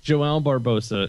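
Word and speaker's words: João Barbosa: You've got Joao Barbosa is actually how you pronounce his name.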